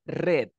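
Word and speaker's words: read: el verbo el re cuando está en su forma pasada se pronuncia red o sea cambia su pronunciación r red como si fuera color rojo pregunta aquí el verbo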